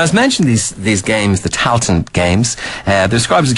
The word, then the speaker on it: Tailteann: Am I pronouncing this correctly on Tailteann Games? Yes, correctly, yes.